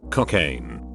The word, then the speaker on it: Cocaine: my teacher's name is mrs cocaine yes pronounced like the drug and made the first